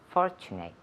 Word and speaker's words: fortunate: Aquí, 2 puntos de pronunciación. Fortune, la TU suena como si fuera CH. Fortunate. Y la terminación termina en ATE, pero se pronuncia como si fuera it. Fortunate. Fortunate. Repeat. Fortunate. Yes, fortunate. Y el énfasis en la primera sílaba.